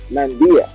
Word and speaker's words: Mandia: How do you pronounce it? Mandia or Mandia? Mandia.